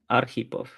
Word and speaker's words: Arhipov: Arhipov. Arhipov. So accent, Yeah. like typical American, I put the accent on the wrong syllable.